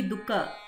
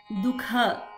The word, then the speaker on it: Dukha: And also the pronunciation Dukha. It should be second ka. It should not be Dukha. It should not be first ka. We should add a stress in kha. Dukha.